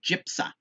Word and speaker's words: JPSA: study of abortion jpsa it's pronounced gypsa where they asked legal